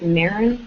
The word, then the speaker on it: Maren: It's just Maren, which is spelled like Karen but with an M, at Zirtual, which is spelled like virtual but with a Z.